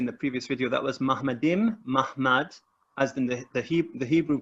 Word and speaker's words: Ma'amad: It's pronounced Mahmad, but it's actually spelled Muhammad.